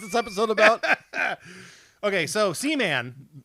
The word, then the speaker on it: Seaman: am not familiar with caman well I believe it's pronounced C man well I'll work on